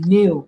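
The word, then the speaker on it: neo: who uses new pronouns AKA new pronouns n e o or new pronounce NE W two things you can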